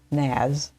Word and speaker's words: NAS: But anyway, and I just completely lost my train of thought because NAS is pronounced like the word as NAS with an N in front of it.